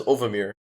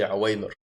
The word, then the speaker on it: Ovamir: His name is, at first I used to pronounce it as Ovamir because that's how he spelt it, until I later realized his name is actually Awaymer.